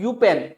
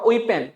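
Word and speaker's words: Eupen: Next देखिए student, ये जो एरिया आप देख रहे हैं, ये वाला एरिया, ठीक है, इसको हम कहते हैं यूपेन। यूपेन और ओइपेन दोनों इसकी प्रोनाउंसिएशन है, यूपेन एंड मेलमेडी।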